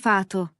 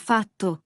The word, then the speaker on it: fatto: Ne dites pas fato, mais fatto (le verbe faire). Cela change le sens !